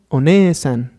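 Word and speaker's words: お姉さん: Y bueno, la pronunciación quedaría One-san, haciendo la vocal larga E.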